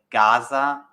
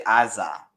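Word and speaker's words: עזה: but the point is it's spelled with a A, but it's pronounced Ga, and it's called a Gai, and it's like not antiquated. I think it's really interesting, but basically it's a way that ayins can actually sound like Ga, so that's why Amorah is Gamorah.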